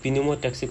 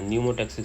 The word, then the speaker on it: pneumotaxic: इसको पिन्यूमोटैक्सिक सेंटर नहीं बोल देना, न्यूमोटैक्सिक सेंटर पी से होता है, इसमें पी साइलेंट होता है।